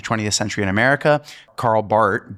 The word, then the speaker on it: Barth: If Martin Luther King is the most famous theologian uh of the 20th century in America, Karl Barth B A R T H uh though the H is silent, is kind of his counterpart in Europe.